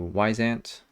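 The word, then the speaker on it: Wyzant: clients there so through wise ant which is spelled a little strangely um anyways it's supposed to be like a wise ant i don't know why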